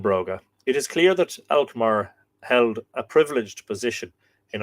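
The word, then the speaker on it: Elcmar: the same deity this name elmar apparently properly pronounced in Middle Irish elkar because there would be a Shu on the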